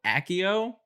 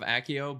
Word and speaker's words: Accio: I like the sound of Accio better. I do but too. in general English pronunciation, 2 C's is this, I'm gonna say Accio.